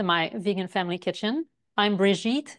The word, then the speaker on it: Brigitte: Vegan family kitchen I'm brigit it rhymes with beet and I'm delighted to